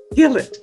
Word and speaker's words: Gillett: do you pronounce it you did it perfectly Gill it all right very good because when when it's a g I never know whether it's going to be a g or Jill or you know okay